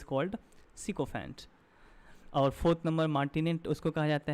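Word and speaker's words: martinet: मार्टिनेट इसको प्रोनाउंस करते हैं।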